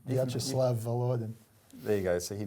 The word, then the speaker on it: Vyacheslav Volodin: the Russian State Duma, Vyacheslav Volodin. Have I pronounced that right? Not quite, but it doesn't matter. Okay. Vyacheslav Volodin.